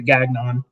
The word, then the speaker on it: Gagnon: Oddly enough, his name was Derek, and that was his last name, and he pronounced it Gagnon.